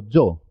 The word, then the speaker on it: yo: Pero suena como una Y, hemos visto antes la letra Y, la doble L, en yogur, rayo, mayo o yo. Yo. ¿Por qué? Porque comienza sílaba. Es el comienzo de la sílaba. Cuando la I comienza una sílaba, es el principio de sílaba, suena ye, suena como consonante.